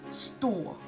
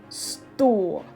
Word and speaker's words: stå: is wrong but yeah spot versus stool you heard here how this is longer than this one store spot store and then we have